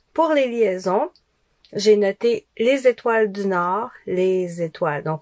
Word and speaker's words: les étoiles: Les étoiles. Donc le z, il va avec étoile.